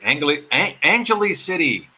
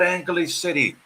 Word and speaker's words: Angeles City: When I got here, I was pronouncing it Angeles City. No, it's not Angeles City. Lutz says, Kapapapangans don't pronounce the G. So even I'm pronouncing it wrong. Supposedly it's Angeles City.